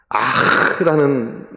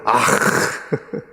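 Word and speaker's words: אַךְ: 6절 앞에 아흐라는 단어가 적혀 있어요. 지금 제가 그대로 발음한 그대로입니다. 아흐. 아흐.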